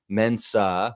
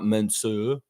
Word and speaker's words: Mensah: Mensah Bansu was on the G uh Great Britain team in the London Olympics. Uh mostly you didn't the the U on Mensa is an A. Mensah, not Mensah.